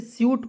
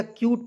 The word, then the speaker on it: cute: उसके बाद देखिए यहाँ पे CUTE, तो इसे स्यूट पढ़ें या क्यूट पढ़ें, ठीक है।